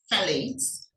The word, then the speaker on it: phthalates: and the phthalates many it's pronounced phthalates many of them are